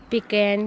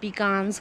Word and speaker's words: pecan: तो कुछ वीडियोस में इसे पिकैन कहा जा रहा है, किसी में इसे पिकान्स कहा जा रहा है, किसी में इसे पेकेन कहा जा रहा है।